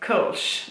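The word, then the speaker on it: Kölsch: I feel like the way you pronounce it is like Kolsch.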